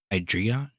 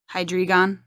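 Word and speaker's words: Hydreigon: or it's spelled differently it's h-y-d-r-e-i-g-o-n hydrion hydrigon hi dragon ei is like like mine like chaotically so like hydrion and then the gh at the end yeah it's like hydrate it's just like saying my name except for put hide at the beginning of it and on at the end of it hydron it's kind of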